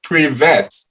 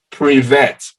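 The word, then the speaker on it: привет: know the pronunciation because it's written p-r-i-v-e-t so it's like pre-vet so for me at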